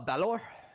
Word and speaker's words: Balor: Is Bor the correct pronunciation? Uh Balor.